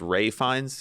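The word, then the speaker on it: Ralph Fiennes: that guy's name is Ralph findes but it's pronounced Ray fines yes Ray since when apparently Chelsea hler and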